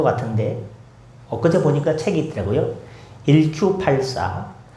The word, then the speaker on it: 1Q84: 1Q84. 저는 처음에 그걸 IQ84로 읽었어요. IQ4가 아니고 원래에 일본 단어 발음을 할 때 Q라는 단어와 숫자 9라는 단어가 비슷합니다. 9쿠 해 가지고 요걸 이렇게 어 바꿨는데요.